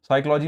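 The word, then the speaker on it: psychology: प्रामेड, physical और physician, सब में पी बोला जाता है, लेकिन साइकोलॉजी, साइकोलॉजी में पी साइलेंट होता है।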